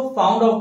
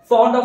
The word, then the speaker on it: fond of: सो कई लोग इसको फाउंड ऑफ भी प्रोनाउंस करते हैं, जो कि गलत प्रोनाउंसिएशन है। हमें इसे फॉन्ड ऑफ प्रोनाउंस करना है, ना कि फाउंड ऑफ।